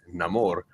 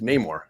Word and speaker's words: Namor: Danielle it's same with neyar if you are speaking in English you say neyar if you're speaking Spanish or want to say it like he would say it's namore okay Italian it's namore